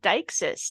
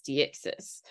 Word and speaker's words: deixis: And maybe we'll include a little spoof clip in here, but I always thought you pronounced it as Dixis, like you would like a Pokemon name, but no. Apparently, it's Dyes.